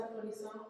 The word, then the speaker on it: Polissaint: So my name is Polissaint, properly pronounced Polissaint. I feel like I'm trying to do better at actually pronouncing it the way my parents named me.